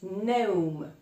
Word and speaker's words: gnome: And the last one, the last word for today is gnome.